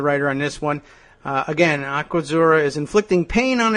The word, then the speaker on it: Aquazzura: Huffington Post reports that luxury shoe brand Aquazzura it's Aquazzura, two Z's, so that should be Aquazzura. I don't know if they pronounce it that way.